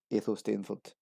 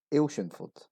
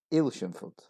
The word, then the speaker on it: Athelstaneford: This town is located in East Lothian, often pronounced as Athelstaneford, 4 syllables as it's written. This is actually pronounced as Ailshinford, Ailshinford, only 3 syllables.